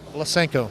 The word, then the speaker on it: Lesenko: Lesenko. Lesenko.